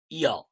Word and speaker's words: য: আমরা বাংলায় বলি জ, কিন্তু সংস্কৃতে আমরা একে বলবো ইয়া ইয়া ইয়া। উদাহরণের জন্য ওয়াই আর এ নিয়ে নেন, ইয়া ইয়া ইয়া ইয়া ইয়া ইয়া ইয়া। মনে হচ্ছে যেন হৃদয় থেকে অন্তর থেকে বর্ণটা উচ্চারণ হচ্ছে, ইয়া।